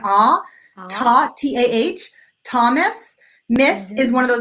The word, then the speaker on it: Thomas: okay Mariana is asking how do you pronounce the names Thomas or Oscar both of them are the short o sound that sounds just like an oo tah-tah Thomas this is one of